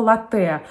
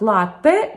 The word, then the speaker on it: latte: совсем с правильным ударением это слово later на самом деле название напитка звучит как latte приводится молоко а именно